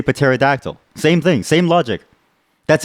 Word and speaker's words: pterodactyl: But we don't say ronounced, we say pronounced. Okay? We don't say ussy, we say pussy. Therefore, we say pterodactyl.